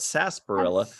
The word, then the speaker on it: sarsaparilla: It's spelled sarsaparilla, but we call it sarsaparilla because I'm thinking of our good buddy, Mr.